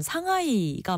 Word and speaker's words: 상하이: 사실 외래어 표기법에 의하면 상하이가 맞는데 네. 이 곡 들어보면 약간 샹하이라고 발음해야 될 것 같은 아주 그 쫀득하고 중독성 있는 노래 많이들 기억하실 거예요.